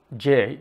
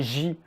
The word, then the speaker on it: j: Et "jay" est faux aussi car c'est « ji ». And "j" is actually wrong as well. It is « ji ».